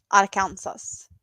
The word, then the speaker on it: Arkansas: So the first like the arc part would be more like pronounced. There's like harsher sounds. Ark. And then the rest is like just a side note. Arkansas. Yeah. It's just the rest just kind of there's no focus really.